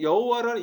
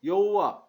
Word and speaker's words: 여호와: 후대 유대인들이 이 자음에 아도나이의 모음을 합쳐서 여호와, 야훼라고 부르게 된 거예요.